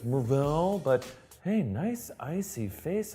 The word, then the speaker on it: Mar-Vell: at the movie theater to correct your pronunciation of Mar-Vell from a recent video. Actually, it's Mar-Vell, but hey, nice icy face and that crocodile finish navy blue leather band.